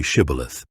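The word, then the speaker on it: Shibboleth: If he answered, "No," they told him, "please say Shibith." If he said Cibilith, because he could not pronounce it correctly, they seized him and killed him at the fords of the Jordan.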